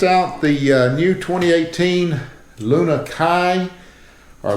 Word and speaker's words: Lunakia: the uh new 2018 Luna Kai or luna Rod U I think the pronunciation is Luna Kai in Japanese uh it was basically